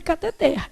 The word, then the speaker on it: cateter: O certo é cateter. A palavra é o quê, gente? Oxítona. A última sílaba é que é tônica.